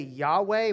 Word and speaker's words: Yahweh: i am sent me it's y-h-w-h in the um hebrew we say yahweh we we add our our our little uh vowels in there just so that we can pronounce the darn thing but in the original